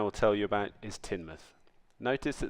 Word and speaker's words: Teignmouth: The first town I will tell you about is Teignmouth. Notice that there's a big difference between the way the name is spelled and the way the locals pronounce it. Teignmouth is a small fishing town and industrial port.